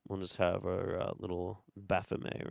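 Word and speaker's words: Baphomet: We'll just have our little Baffome right here. And yes, Baffome is a perfectly fine way to pronounce that name.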